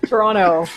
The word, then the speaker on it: Toronto: Toronto. I don't pronounce the T's.